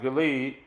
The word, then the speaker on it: Gilead: the Hill Country of Gilead some pronounced it could lead east of the Jordan